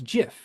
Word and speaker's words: GIF: to be compressed then we have of course gif or jif which is a hilarious thing if you've never looked into the pronunciation problems with it um the developers of gif or jif pronounce it as jif and the reason why they did this is